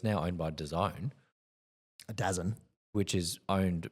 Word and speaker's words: DAZN: Yeah, that's how you say it, DAZN.